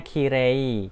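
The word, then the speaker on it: きれい: jadinya e panjang ya contohnya Kirei khire e ketemu I Jadi dibacanya e panjang minasang kire lalu Yume gitu ya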